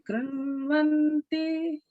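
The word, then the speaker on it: कृण्वन्ति: Yasam Deva Devi Krunvanti. Yasam Deva Devi Krunvanti. Good. And notice in the word Krunvanti, the erna sound is the retroflex sound. So, so people can just make sure you're pronouncing that Krunvanti.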